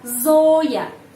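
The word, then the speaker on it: Зоя: Dan huruf yo dibaca O tetap. Kenapa? Karena dapat penekanan. Zoya.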